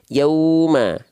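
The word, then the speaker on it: يَوْمَ: kami gitu ya Nah Lin artinya atau layin artinya lembut atau lunak Apa yang dibaca e lembut atau lunak wau sukunnya atau ya sukunnya jadi seperti ini bacanya Yauma tuh wya e Aya itu lembut aja Yauma antara perpindahan dari ya ke wau yau lembut ya Yauma Yauma tuh lembut dia Yauma ya jangan sampai Yauma tapi Yauma lembut dia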